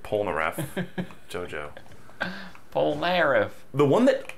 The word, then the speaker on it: Polnareff: These are the same guys who say Polnareff instead of Polnareff.